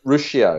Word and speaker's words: Ruscio: Rusco on there? Did you have what's his name? Dr. Rusco? Did you have him on there? Ruscio. Ruscio, that's how you pronounce it.